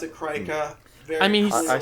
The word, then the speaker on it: Krika: to pronounce it Krika.